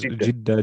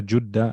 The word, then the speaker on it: Jeddah: City Jeddah, you can pronounce it as Jeddah, Jeddah, Juddah.